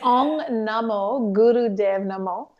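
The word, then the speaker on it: Ong Namo Guru Dev Namo: And then if you can chant, since I can't even pronounce it, I will try my best to try to follow you. It's Om Namo Guru Dev Namo.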